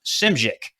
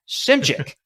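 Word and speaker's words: Szymczyk: uh bill schmidt i believe it's called it's pronounced simschick yeah there's a lot of there's a lot of z's and a lot of y's in that s-z-y-m-c-z-y-k simchick and uh so he comes in and so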